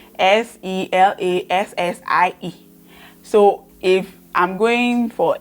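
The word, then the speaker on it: Selase: that one to a problem my name is Selassie and as well my name s-e-l-a-s-e I'm a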